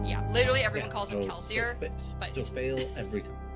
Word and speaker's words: Kelsier: Anderson has said that Kelsey is actually supposed to be pronounced as kelsier but even he doesn't pronounce it that way everyone just pronounces it calcium and he's like he's